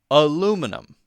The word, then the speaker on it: aluminum: that one is aluminum Americans will say aluminum aluminum which to me is just every sound right but British people will